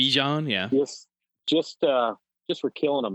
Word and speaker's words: Bijan: I mean, you know, Algier and Bijan is how it's apparently properly pronounced. Bijan, yeah.